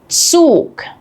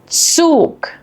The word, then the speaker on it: Zug: But in German, Z is completely different. It's pronounced like a ts sound, as in cats.